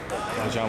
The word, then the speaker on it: Bojan: Bojan was looking for that, and I got Quin